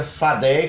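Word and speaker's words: שדה: da época de Moshe, Shadé. No hebraico hoje pronunciado fica Sadé, que geralmente é traduzido como campo, simplesmente um campo.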